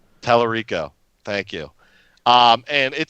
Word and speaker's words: Tallarico: No, but I heard a interview with I'm going to pronounce his name wrong. Tommy Tallarico. Tallarico.